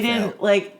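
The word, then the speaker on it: Faile: She's definitely an epic fail. We didn't realize that's how you were supposed to pronounce her name until years after reading her as Fail.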